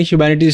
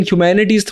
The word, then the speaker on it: humanities: बहुत सारे लोग इसको सही से प्रोनाउंस नहीं कर पाते हैं, इसको ह्यूमैनिटी बोलने लग जाते हैं। ह्यूमैनिटी का मतलब होता है मानवता, लेकिन ह्यूमैनिटीज थोड़ी डिफरेंट है।